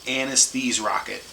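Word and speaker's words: Anesthrokket: It's like Anesthese Rocket. I read it really trying to figure out how to say it so I could say it right. It's like anesthesia but rocket. So Anesthese Rocket.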